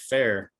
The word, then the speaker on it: Fearr: related to fear so my last name is actually pronounced fair that's just one of those last names that you've heard every which way and you just kind of go with whatever people want to say right uh so i've you